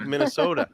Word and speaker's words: Minnesota: She said, like, Minnesota. Minnesota. I have a real good friend there. You got to hit that hard D in there for the T.